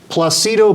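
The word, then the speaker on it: Plácido: pronounce his name and he said Placido okay then he told Domingo yeah like Placido Domingo and then Dan Baker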